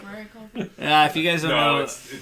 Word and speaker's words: Rory Culkin: Kevin kept calling him Rory McCulkin, so now he's always Rory McCulkin. Wait, what do I call him? Rory Culkin. You were fine. You were fine. You said it right.